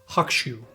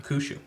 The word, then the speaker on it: Hakushu: You know a little bit about this one, and supposedly it's pronounced Hakushu. Oh, not Hakushu. Okay. No. Well, the U is more of a little like a slight Hakushu.